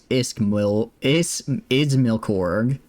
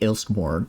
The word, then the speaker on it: Izmilkorg: Why do you have to bring that big of an army to Izmilkorg? I think I've been calling it Ilskmorg, but it's Izmilkorg.